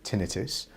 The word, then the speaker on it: tinnitus: ringing in the ear comes from the latin word and it's pronounced tinnitus and that tinnitus can